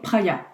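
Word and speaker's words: Praia: Tu as aussi New, tu as Olution, tu as Alphanova, Cartier, Respire et Praya. Praya, ça s'écrit P-R-A-I-A.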